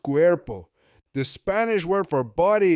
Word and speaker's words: cuerpo: We hear the sound Q, airport, Q, plus air, plus po, cuerpo, pronounced cuerpo. The Spanish word for body is cuerpo.